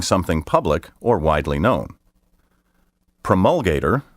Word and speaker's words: promulgator: public or widely known promulgator which may also be pronounced promulgator means a person who